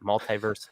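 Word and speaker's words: MultiversX: But multiverse, kind of like in Marvel, is how you pronounce it.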